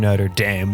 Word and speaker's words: Notre Dame: about Notre Dame we talked about the American Notre Dame which is pronounced like a football player's running the show